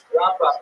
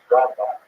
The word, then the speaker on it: Rambam: Rambam is pronounced with the emphasis on the first syllable, Rambam, and Ramban is pronounced with the emphasis on the second syllable, Rambam and Ramban.